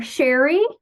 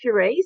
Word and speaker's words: Sheree: directly to Chris um it's Sheree so you did perfect the first time um Chris so so